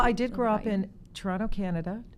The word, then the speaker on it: Toronto: Well, I did grow up in Toronto, Canada. Toronto, as we say. We don't pronounce that T. In Toronto, Canada.